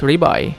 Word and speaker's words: Levi: Now that we have heard it in the anime enough, we know it is pronounced Ribai.